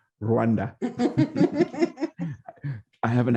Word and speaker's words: Rwanda: I want to say it like they do. Rwanda.